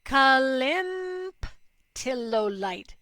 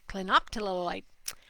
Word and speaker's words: clinoptilolite: Do you know about the product Toxa Prevent Zeolite Calymptilolite? Say it once. It's hysterical. Cleanup. I said it wrong the first time. Clinoptilolite.